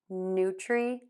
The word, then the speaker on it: nutrient: So let's put those first 2 syllables together. New tree, nutri, nutri, nutri. And then we're going to end with unt, short, unstressed U sound.